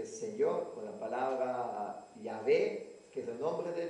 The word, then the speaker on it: Yahvé: Jehová, o en realidad el Jehová, una equivocación, la pronunciación probablemente era Yahvé.